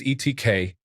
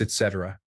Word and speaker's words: etc.: 4 years I read it as ETK, not K, but K. The sound that the letter K makes. I was informed by an entire high school class that it's etc.